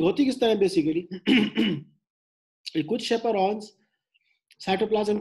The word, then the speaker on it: chaperone: उन folding machinery को शेपरॉन बोलते हैं, CHAPERONES, उसको प्रोनाउंस शेपरॉन से करते हैं.